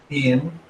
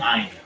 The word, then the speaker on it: Ein: by, looks at you, Ian. Is that the way you're pronouncing your name? Ein. Ein? Like nine, but Ein?